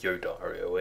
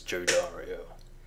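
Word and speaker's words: Jodariel: and going with yodario it is Joe Dario I don't know why usually it would be like yodario like yotin but no they're going with Joe Dario fine I was saying it wrong all along the choice has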